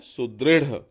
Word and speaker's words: सुदृढ़: इसका उच्चारण क्या है, सुदृढ़।